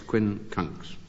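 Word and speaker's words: quincunx: It's very hard to pronounce. Q U I N C U N X Quinn Kunks.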